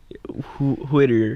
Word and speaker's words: Whittier: You came down from Whitt is it is it pronounced Whittier or Whittier? Who? It's Whittier.